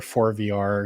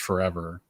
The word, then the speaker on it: ForeVR: start uh because i i wasn't sure if it was forever games or for vr because it's spelled fore and then capital vr to be punny and of course it is just forever but you are i